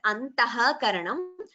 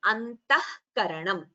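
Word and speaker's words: अन्तःकरणम्: This is what we get, the pronunciation we get when visarga is followed by ka or kha.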